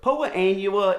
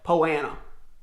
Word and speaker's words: Poa annua: Look, Poa annua is the right way to say it, but down where I'm from, we call it Poana.